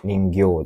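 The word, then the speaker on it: 人形: A Ningo des Jingyo tidak ada ni. Bang Jingo juga tidak ada. Sambang ningo juga kurang ya. Un-nya ya harusnya gya panjang.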